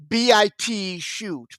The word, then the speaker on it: BitChute: BitChute. Is that how you say it? BitChute? B-I-T shoot. B-I-T-C-H-U-T-E. BitChute.